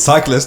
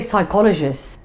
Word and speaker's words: psychologist: That's not how you say it. It's cyclist. Who's cyclist? أنا قلت cyclist ولا? I say psychologist.